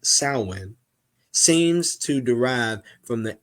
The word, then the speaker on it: Samhain: marketing the end of summer the hours word Sam Hayne also found as samane Samuel but it's pronounced salwin seems to derive from the ancient word meaning